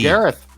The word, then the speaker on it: Gareth: Is it Garrett or Gareth? Gareth. I don't know if the H is silent, if it's Garrett or if it's Gareth. It's always tricky. No, I think that's Gareth.